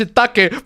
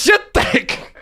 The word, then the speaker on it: shiitake: Yes, I know it's pronounced shiitake, but it says shit take.